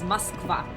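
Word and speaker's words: Москва: Yeah, so how we actually pronounce it in Russian is Moskva. That's how we say it.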